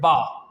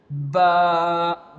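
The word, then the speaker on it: باء: The last example of this quality is of letter Ba. Which will pronounce from our both lips. Here you can see Ba Ba But if I can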